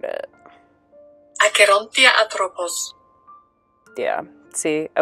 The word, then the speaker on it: Acherontia atropos: The Death's Head hawk moth scientific name is Arachnia atropos, and I'm going to just kind of like put a little clip of the correct pronunciation here because I know I butchered it. Acherontia atropos.